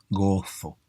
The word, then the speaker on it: Gozo: Oh, me pronuncio la Z, es increíble. Gozo. No todos pronuncian la Z, ¿eh?